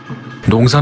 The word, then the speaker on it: 農: 농사 농은 어떻게 만들어졌을까 이 글자의 발음은 농 뜻은 농사 부수는 별 신 총 13획입니다 농사 농은 굽을 곡과 별 신 두 부분으로 분리할 수 있습니다.